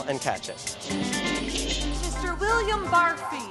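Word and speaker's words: Barfée: William Barfy. It's pronounced Barfy.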